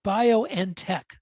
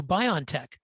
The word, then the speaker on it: BioNTech: It's pronounced bio and tech. Although you see it on television, they go BioNTech.